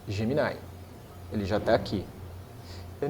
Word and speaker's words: Gemini: emplacar isso, não pegou porque o I em inglês não tem essa pronúncia. E aí meia dúzia de besta igual eu fica falando geminai porque eu acostumei lá no início, mas pode falar gemini.